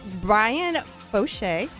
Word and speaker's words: Brian Foshee: It is Brian Foshee.